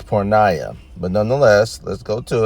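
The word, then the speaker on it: πορνεία: he used here is pornia as you see let's hear the uh let's hear at the proper pronunciation shall we Strong's G 4202 parnaya parnaya all right I stand corrected it's poor Naya but nonetheless let's go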